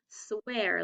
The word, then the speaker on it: swear: best friend i promise swear let's tap it a little bit tricky it's a long a sound but it's a little bit changed because of the r at the end swear check it out